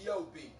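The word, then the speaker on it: Gab: is the homeboy god spell g-a-b pronounced g-o-b the track is the title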